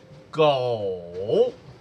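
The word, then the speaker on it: 狗: Dog is pronounced as gou.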